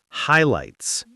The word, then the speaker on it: highlights: And that's a good word to practice because the gh is silent. Highlights.